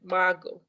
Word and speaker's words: Margot: my sister marcotte was born in germany the tea is silent margo was born in frankfurt in germany in 1926.